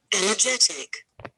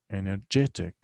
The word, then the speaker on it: energetic: So this adjective has 4 syllables. Okay. 4 syllables يعني 4 مقاطع. احنا قلنا قبل كده one syllable needs or it's necessary for each syllable to have a vowel. So in, in, this is one syllable. The second syllable. Je, third syllable. Tick, 4 syllables. So we have 4 syllables here. And the stress is, as you see, underlined. The third syllable.